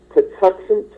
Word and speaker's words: Patuxent: I'll spell it out and pronounce it for you. It's called Patuxent, P-A-T, P as in Patterson, P-A-T-U-X-E-N-T, Patuxent Music.